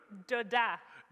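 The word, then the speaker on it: דודה: Doda.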